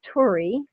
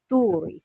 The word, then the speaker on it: Tuuri: the Americanized version is Turi, Right. and the actual pronunciation is Tuuri.